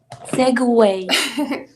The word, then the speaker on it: segue: So as with so again, Ina, will you remind me how to pronounce this word? Segue.